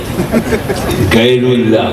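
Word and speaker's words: ग़ैरुल्लाह: भाषा भी सही नहीं। गैरुल्लाह, गैर नहीं, गैरुल्लाह को चूमना शिर्क है।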